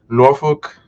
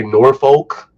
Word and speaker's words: Norfolk: Now, I would say Norfolk, but I learned that when I was down there that's not how you say it. So I was trying to Mhm. get the little twang and say it like they say it in that region.